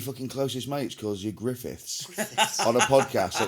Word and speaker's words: Griffith: Griffith. You fucking... It's Did weird. you get your name wrong? Yeah, but the only reason being is because I've got him saved in my phone as my Griffiths.